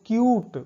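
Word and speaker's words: cute: तो दोस्तों ये रूल 5 है, यदि यू के बाद एक अक्षर छोड़ करके ई आए तब उच्चारण यू करेंगे।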